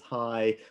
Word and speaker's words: HAI: Welcome to this week's HAI, that's the Stanford Institute for Human-Centered Artificial Intelligence, we commonly pronounce it as HAI, weekly seminar.